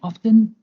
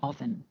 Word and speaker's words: often: the t of fin both forms are correct and depend on where you live so we can say how often or how often an example is how